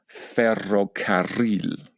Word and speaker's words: ferrocarril: I have to make a huge effort to say the word ferrocarril. Okay, so this word actually has two double R combinations, and it means railway.